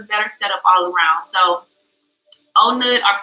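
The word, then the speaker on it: On Nut: Because, like, legit, I was staying I got to Onut, and, like, I love Onut area. If you ever come to Bangkok, I definitely believe, like, Onut is a nice place to stay. It's spelled like like Onnut, but the way they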